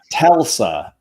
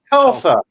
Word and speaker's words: Telsa: It's Telsa. Telsa. Dang it. Right. Telsa. I think I read it as the other way. Like because it's that car company is ubiquitous now.